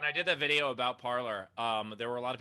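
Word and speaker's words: Parler: I did, by the way, when I did that video about parlor, there were a lot of people in the comments being like, but it's a French word. Wouldn't it be pronounced French like parlay?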